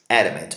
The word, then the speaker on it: adamant: Adamant. Olha a pronúncia dele, ó. Adamant. Adamant. Esse ezinho é bem fraquinho, tá? Então, esse ezinho de ponta cabeça é esse A, esse aqui também, tá? Então, é adamant, que significa